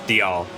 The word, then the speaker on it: Dalziel: I said Dalziel again. It's Dial. I'll get used to I'll get used to it now that I know how to pronounce it. It's Dial.